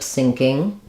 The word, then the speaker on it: syncing: the SN of SN so it sounds like lip sinking sounds the same as as this um like a sinking ship lip syncing um yeah